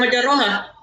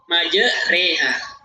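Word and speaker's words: مَجْرٖىهَا: Cara bacanya ini bukan majroha, tapi majreha. Majreha.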